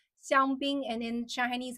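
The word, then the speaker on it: 香槟: So xiangbing is the Shanghainese pronunciation. When it's in English, in Mandarin, it's champagne. Okay, it's champagne.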